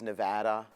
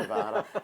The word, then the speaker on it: Nevada: She says Nevada, not Nevada.